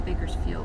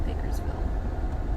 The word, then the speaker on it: Bakersfield: Apparently it's Bakersfield and not Bakersville. Let's fix that. Maybe Mike mispronounced it, or with the wind last night, I just screwed it up.